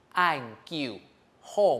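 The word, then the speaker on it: 恁久好: 安 Q 后某，要记得安 Q 后这 3 个字呢，都是连续下降的声调哈，一定要非常的注意。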